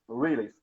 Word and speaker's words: Reels: Reels, é Reels que fala, né? A Reels, pronúncia Reels.